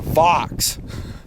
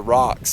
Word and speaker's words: Vox: say it right it's it's actually the fox I think I called it the Rocks that's so funny the Boker Vox or VES however he says it it's a designer